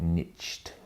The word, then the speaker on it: niche: number of people been preaching niche or the Americans call it niched or whatever they how they pronounce it but the niche business is by the way I'm a big fan of a niche business niche properly but some people have